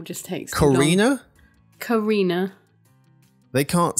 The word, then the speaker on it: Carina: Carina. They can't spell it?